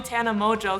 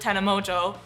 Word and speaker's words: Tana Mongeau: point and - but so "whoa" rhymes with "Tana Mongeau", and then what rhymes with "Beta Crush"? "Toothbrush" And if you don't - well you know, "Tana Mongeau", you might - know